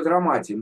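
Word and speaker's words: דרמטיים: Ну, только драматим, ну, как бы правильно драматим, ударение драматим. драматим.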